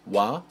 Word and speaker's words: は: A quick note about the syllable wa. Usually, it's written like this, but as a particle, it's written like this. Both wa and ga are used